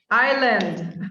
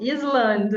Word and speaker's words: island: This one, island. Okay. Yeah. Not Island. I know. I've heard this one a lot. Island. Almost all of my Spanish speakers will say island. Okay. Again, Oh! I'd have to research why this happens, why we say it like this.